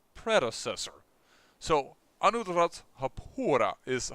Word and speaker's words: Anuradhapura: So Anuradhapura is how I tend to pronounce it.